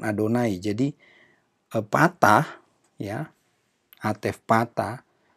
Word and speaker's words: Adonai: Karena untuk mengganti kata Yahweh itu mesti diucapkan Adonai.